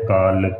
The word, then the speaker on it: काल: इस शब्द को, जो काल का शब्द है ना, इसको मुंह को थोड़ा आराम से खोल कर बोलना है, काल का।